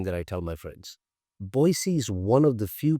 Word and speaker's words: Boise: live, where you call home, and that is Boise, Idaho. Did I say that right? Boise? That's exactly the way a Boisean would pronounce.